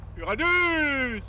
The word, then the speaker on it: Uranus: Uranus! Ça se prononce comme ça.